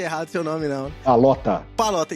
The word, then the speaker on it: Pallotta: Eu não pronunciei errado seu nome, não. Palota, e tá escrito certo aqui, hein?